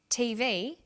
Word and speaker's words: TV: Notice that each letter in the abbreviation is pronounced separately, but the last letter is pronounced more strongly because it carries the primary stress. So we say USA, ASAP, ABC, and TV.